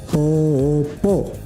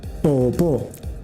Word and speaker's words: Poopó: Se llama Lago Poopó. Lago Poopó. Cuidado con esta palabra, ¿no? Porque si lo hablas en inglés, podrías pronunciarlo diferente.